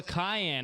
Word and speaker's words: Kahan: Cayenne, like the pepper, which phonetically isn't right. That one confuses me. No, he said that's Kahan is okay.